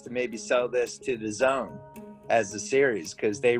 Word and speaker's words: DAZN: We think we have a chance to maybe sell this to the Zone as a series because they really need content right now. I don't know if you know what the Zone is.